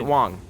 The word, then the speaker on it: Wong: I I want to hear specifically how they pronounce Wong or Wang. Wangi. Okay, they pronounce it Wong.